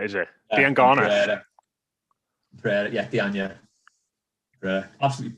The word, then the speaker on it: Diangana: Dianya, is it? Diangana. Pereira, yeah, Dianya. Absolutely butchered the pronunciation of all the names there, but still not got our team.